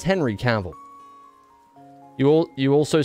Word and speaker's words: Cavill: let go of it it's Henry caval right nobody's walking around saying Henry Caville oh god let's have a look Henry it's Henry caval you all you also